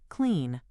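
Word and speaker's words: Cline: CLI or KLEN, which I am told is pronounced clean.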